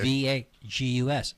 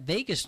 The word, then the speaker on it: vagus: the vagus nerve right v a g is how it's spelled oh okay V Gus and that Vegas nerve can you know be